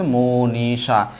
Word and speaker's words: মনীষা: তাহলে খেয়াল করে দেখেন, এই যে দেখেন আমরা বলেছি কি মূর্ধন্য ষ থাকলে অলওয়েজ উচ্চারণ লেখার সময় তালবস্যা হয়ে যাবে। এই হচ্ছে আমি তালবস্যা দিয়ে ফেললাম। আকার আছে, আকার দিয়ে দিলাম, হয়ে গেল হচ্ছে মনীষা।